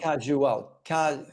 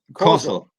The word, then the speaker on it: causal: Not casual. Causal. Causal. Exactly. Sorry, I mispronounced it. Causal. Casual connections is something completely different.